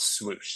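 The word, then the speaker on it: .SWOOSH: 2022 they announced dot swoosh so this is pronounced whoosh there's a DOT or a period Then swoosh all capitalize I'm not yelling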